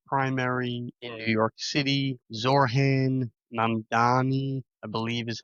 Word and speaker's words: Zohran Mamdani: believe, the Democratic primary in New York City, Zohran Mamdani, I believe is how you pronounce his name.